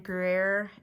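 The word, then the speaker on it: Gruyère: on the hunt for the Starbucks bacon and grer that's how you say it um egg bites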